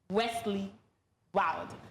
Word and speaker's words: Westley Wildé: we have with us in the studio, Wesley Wild. Did I pronounce that very well?